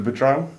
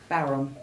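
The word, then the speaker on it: bodhrán: Can you give me some tips on is it the Badran? Bowron. Bowron, is that how you say it? See, I've been educated already.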